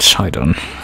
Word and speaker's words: Sidon: So they do pronounce it Sidon.